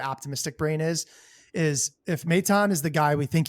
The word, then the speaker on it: Maton: he can be, and I'm following your lead on how to say his last name. Um, uh, I think I was saying Phil Matten before.